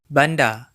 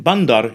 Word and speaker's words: bandar: Notice that the final R is silent in many Malay accents, including the mainstream Johor, Riau, Selangor Malay. This is also the case in some Indonesian accents, but more so among Malay accents.